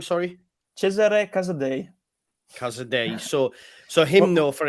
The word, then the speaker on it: Cesare Casadei: Cesare Casadei. Casadei. So him though, for example. You want to give him a try? No, well, Cesare Casadei.